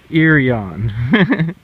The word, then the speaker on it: Heraion: In Greek they would call it, Irion. Irion.